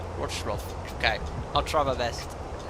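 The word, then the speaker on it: Wrocław: Lufthansa, correct pronunciation is, because the L is spelled as a kind of a W, Wroclaw. Wroclaw.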